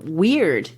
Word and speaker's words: Wyrd: is this Anglo-Saxon term Wyrd, W-Y-R-D. This is another one of those cultural words that's worth taking a moment to think about. It sounds like the word weird, W-E-I-R-D.